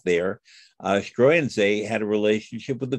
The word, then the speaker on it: Struensee: And is it pronounced Struensee? Struensee.